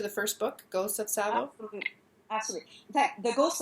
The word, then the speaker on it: Tsavo: Is that how you pronounce it? Exactly. Tsavo.